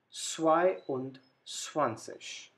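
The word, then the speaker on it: zweiundzwanzig: when we combine this we get swai und swanseas now 23 last number 3 dry then und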